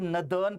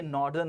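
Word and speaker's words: northern: कुछ लोग इसको आजकल नदर्न पढ़ रहे हैं, भैया ये नॉर्दर्न होता है, ये लेफ्टिनेंट लेफ्टिनेंट दोनों होता है, और ये स्केड्यूल नहीं होता।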